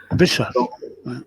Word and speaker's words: Béchar: Donc, le roman part de l'Algérie, d'un village, d'une ville, qui s'appelle Bchar. C'est ça, Bchar? C'est ça. Ça se prononce comme ça, Bchar. Hein? Béchar. Béchar, voilà.